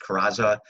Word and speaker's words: Carranza: It died down, and the Huerta regime was overthrown by I believe it's pronounced Carranza.